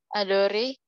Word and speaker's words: adore: Jedore, tu dore, il, el, ang adore, nu adorang, fu adores, il, el adoren. Ya, oke. Aku bantu benerin ya. E-nya nggak usah dibaca Nova. Jadi ntar kita bacanya jadi jador, tu ador, il el ong ador.